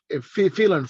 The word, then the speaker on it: Phelan: Yeah, Phelan Farms. Phelan Farm, yeah. Of the two pronunciations, I got both right, both wrong.